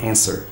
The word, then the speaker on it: answer: de enfeites ortográficos né palavras que nem answer Ah que tem um um w ali no meioo no meio mas você não fala answer você fala answer ah ou então Sword